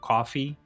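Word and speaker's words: Ko-fi: It's spelled like spelled like K A WF I coffee spelled like K O FI.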